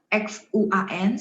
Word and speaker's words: 轩: 轩 mulutnya bulat. 轩 A-nya memang agak sedikit N gitu ya, N gitu ya.